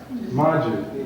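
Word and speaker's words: maji: M-A-J-I. Margie. And you say it like that, Margie.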